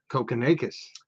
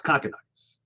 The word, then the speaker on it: Kokkinakis: How would you pronounce that? Kokonakis. It's No. Kokkinakis. No, it's Kokkinakis.